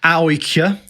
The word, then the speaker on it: AIK: And they said, basically AIK in Sweden, or AIK, as we learned they were pronounced when we were there.